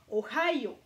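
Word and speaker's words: ohayō: OK, so en japonais, c'est ohayo. Donc, j'ai souligné ici le H parce que c'est très important de le prononcer, parce que si vous ne le prononcez pas, vous n'avez pas la bonne intonation.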